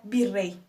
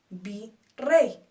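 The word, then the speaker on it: virrey: ejemplo en esta sería birrey vi Rey dos sílabas nuestra sílaba tónica rey pero termina en y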